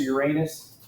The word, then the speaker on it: Uranus: You can pronounce it Uranus or Uranus. I think there are less jokes with Uranus, but neither one is free from jokes.